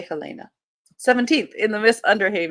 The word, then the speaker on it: Helena: Of course, if this were Montana, the capital is Helena, not Helena, but it's spelled the same way. I will say Helena.